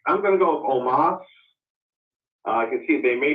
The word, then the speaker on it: Omos: Omos. So Seth Rollins versus Omos. What's going on here, and who's going to win? Well, I think I'm going to go with Omos.